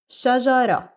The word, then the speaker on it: شجرة: And again, you guys, Ta-Marbuta isn't pronounced in spoken dialect. So you say shajara, shajara, shajara.